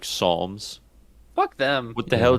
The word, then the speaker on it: Psalms: Who was the dumbass that put a P in front of pterodactyl? Yeah, who's out here putting P's in front of words that don't make noise? Right. Like Psalms.